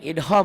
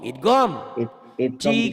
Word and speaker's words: idgham: Jangan idham, orang Jawa idham. Idgham.